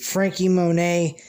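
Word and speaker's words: Franky Monet: monet frankie monet is her name i keep pronouncing it frankie monette because of the t and i'm thinking it's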